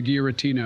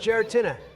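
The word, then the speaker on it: Giratina: When does the guerotina appear? It's actually pronounced geratina.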